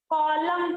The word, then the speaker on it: column: पर COLUM N, तो इसको क्या पढ़ेंगे, कॉलम पढ़ेंगे। यहाँ पर जो N है ये Column.